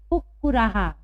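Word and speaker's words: कुक्कुराः: पैंच कुक्कुराहा। यहाँ पर भी विसर्ग के पहले आ की मात्रा है, इसलिए हम हा का उच्चारण कर रहे हैं।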